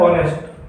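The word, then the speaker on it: honest: इसको बोला जाता है ऑनेस्ट, होता है एच साइलेंट इसके अंदर, अपने को लगता है ये ऑनेस्ट है लेकिन बोला जाता है ऑनेस्ट।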